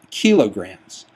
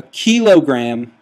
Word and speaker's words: kilogram: work with units called kilograms. A kilogram, or kilogram is more accurately how it's pronounced.